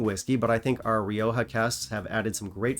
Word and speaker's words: Rioja: Comes in at number 5, Ledaig Rioja Cask Finish. Actually, Jeff, it's pronounced Rioja.